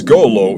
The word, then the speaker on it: Golo: My name is Golo, it rhymes with YOLO, and I'm researching the legend of the three dragons, one of which is said to live here.